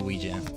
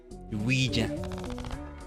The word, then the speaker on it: Ouija: I'm going to do Ouija. Ouija. I that's always how I've learned to pronounce it. It's like saying we Is it Is it a French word then? Ouija.